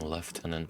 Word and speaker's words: lieutenant: Suppose I should be saying left tenant, shouldn't I? Is it spelled differently in the UK or is it just in the UK they've decided to pronounce it like that?